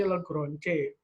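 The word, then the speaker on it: Lagrange: ada interpolasi Newton dan interpolasi Lebron C bacanya Lebron c jadi interpolasi polinomial ini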